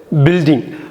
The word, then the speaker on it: building: GITAR எப்படியோ அப்படி தான் அது உச்சரிக்கணும். எழுதுகிறப்ப GUITARன்னு போட்டுக்கணும். நெக்ஸ்ட் வேர்டு வந்து பில்டிங்.